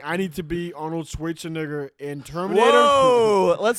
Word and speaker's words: Schwarzenegger: Like find Arnold Schwarzenegger, be him.